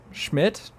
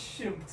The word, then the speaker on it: Shimp: to Kevin Schmidt sh according to Kevin shim no you said it right Schmidt oh is Shimp according to Kevin Shimp who was a senior